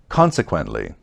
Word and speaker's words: consequently: next we have consequently here's the pronunciation first syllable consequently you know as a